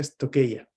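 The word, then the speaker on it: στοιχεῖα: Y se pronuncia estoqueia.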